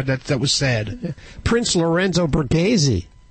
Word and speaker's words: Borghese: Prince Lorenzo Borghese. Am I pronouncing it right, Joey? Borghese, yes. Borghese. That's right.